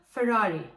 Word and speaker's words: Ferrari: en gözdelerinden biri kendisi biz de her ne kadar yazıldığı gibi okunsa da aslında gerçek o uzun Ferrari olmalı Bizim Neyimize Hyundai bir